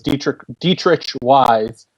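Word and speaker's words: Deatrich Wise: Another pick the Patriots made on edge player was Dietrich Wise. That's how he's telling everyone to pronounce it now.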